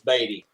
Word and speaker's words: Beaty: That's Dave, say his name is Beaty. It's not Beaty, it's Beaty. All right, sorry, Beaty.